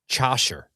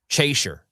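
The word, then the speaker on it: Chaucer: Are you familiar with this gentleman called Jeffrey Chasher? No. Chaser, right?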